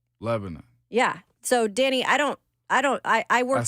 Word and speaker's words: Lebanon: By the way, Cousin Danny of the Borough says that you don't say, that's how they pronounce it here in Tennessee, I'm pretty sure, is Lebanon. Lebanon.